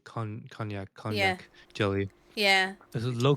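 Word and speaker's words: konjac: like I just kind of don't care drink it's spelled KO n j a c con knac knac jelly yeah this low calorie vegan large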